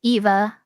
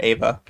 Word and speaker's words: Eva: Is it a long E for Eva or short A when pronouncing your name? It's Eva. That's how you say it. I'm not sure what you mean, but you can hear me say it, and that is how you pronounce it. Some Eva. people wonder if it's Eva or Ava. Oh, I mean, I accept both, but I pronounce it like Eva. Yeah.